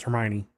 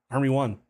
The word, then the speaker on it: Hermione: From what I've heard, he he also did not know how to pronounce Hermione. I don't remember that. apparent to be honest it was probably in the first book or maybe the first couple where he did Hermy Hermy one or her own I